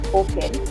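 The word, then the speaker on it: OCEN: the government's Oken it's called Oken uh it's pronounced Oken it's called open credit enabled Network which has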